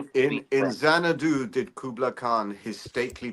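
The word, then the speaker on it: Xanadu: And um this mansion the it's now called Zanadu uh spelled with a X and uh uh this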